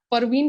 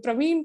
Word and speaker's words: Parveen: friend his name is Parveen Sharma so I always call him Praveen Praveen he reminds me saying that hey it is not Praveen it is for me